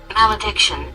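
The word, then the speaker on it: malediction: Mal addiction.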